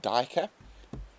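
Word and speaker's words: duiker: Ah, our little neighborhood diker. That is spelled D-U-I-K-E-R, and it derives from Afrikaans, which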